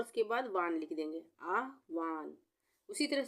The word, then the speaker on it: आह्वान: तो यहाँ पे आ के बाद आधा ह आ रहा है और व पूरा आ रहा है, तो आह्वान, वान ये हो गया आह्वान, आधा ह और व पूरा, आह्वान।